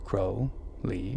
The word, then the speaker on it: Crowley: Crowley, pronounced Crowley, was born Edward Alexander Crowley on October 12, 1875.